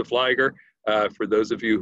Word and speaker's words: Fligor: it a dozen times nissa rhymes with lisa flygo rhymes with tiger it's nisa flyger uh for those of